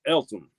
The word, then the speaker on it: Eltham: Missing Mars says pronounced Eltham.